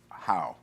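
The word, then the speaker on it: Hao: I think her name I think it's pronounced how how but it's spelled h AO and um one of the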